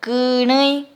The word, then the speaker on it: kërëi: Pronuncien con el acento nasal. Kërëi.